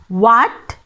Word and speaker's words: what: W අකුරකට පස්සේ එන H අකුර තමයි මෙහෙම silent වෙන්නේ. අපි උදාහරණ වගේක් බලමු. What, when. What, when. H is silent.